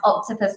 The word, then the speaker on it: 8Topuz: It's pronounced octopus, by the way.